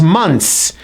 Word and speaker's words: months: So this word is pronounced as months, and it's plural. It's more than one. Therefore, you must pronounce the S at the end so the listener clearly knows that you're talking about more than 1 month.